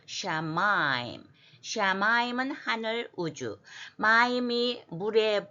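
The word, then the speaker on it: שָׁמַיִם: 오세 다음에는 샤인의 점이 오른편에 붙었으니까 sh 발음을 해야 돼. 샤마임.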